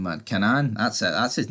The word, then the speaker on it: Kanan: Here he does tell um Kanan Kanan or whatever you pronounce his name, man. Kanan.